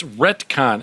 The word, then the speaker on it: retcon: BY THE WAY, by the way, I did say I I was saying it wrong. It's retcon.